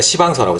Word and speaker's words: 시방서: 그런 것들은 꼼꼼하게 다 이렇게, 그걸 이제 우리가 시방서라고, 시방서. 발음을 좀 이상하게 너무 세게 하면 안 돼요.